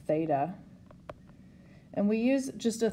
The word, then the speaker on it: theta: and it is a greek symbol it's actually pronounced theta and we use just a theta instead of